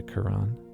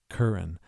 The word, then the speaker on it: Curran: Yeah, I know Bill says this name he's never heard before as if it rhymes with urine, but I sometimes like to say Quran as in sounds exactly like Quran.